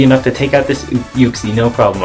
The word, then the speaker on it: Uxie: to take out this uxie no problem i almost said oopsie no nobody pronounces it like that except for uh i